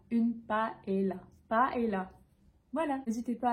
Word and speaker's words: paella: et pour terminer ce mot on va le prononcer paella une paella paella voilà n'hésitez pas à me dire combien